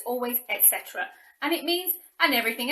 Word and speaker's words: etc.: way so i know some people try and pronounce the etc we do not say that it's always etc and it means and everything else and we